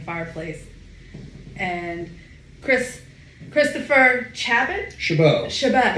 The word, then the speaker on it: Chabot: Chabot. It's spelled Chabot.